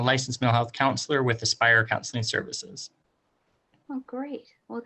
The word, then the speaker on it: Aspire: Spire? It's actually Aspire. It's okay. It's Oh, A-S. Aspire.